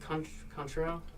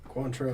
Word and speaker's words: Cointreau: Contro? Cointreau.